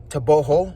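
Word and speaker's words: Tebogo: men we had Le tobogo toboo from what I understand the pronunciation is and then for the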